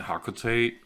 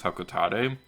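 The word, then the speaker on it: Hocotate: and kids on hakata captain nonomar have been pronouncing it hakuta forever but according to super smash brothers the official pronunciation is hokka tate and i don't like that because the company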